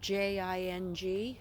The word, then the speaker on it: Jing: And there's Jing. And that's spelled J-I-N-G, short for Jingles, but Jing.